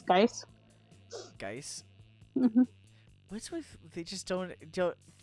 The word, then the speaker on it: Gaius: Isn't Geis Geiss?